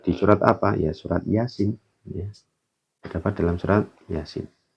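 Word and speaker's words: يس: Cara bacanya bagaimana? Ini ya. Dibaca Yasin.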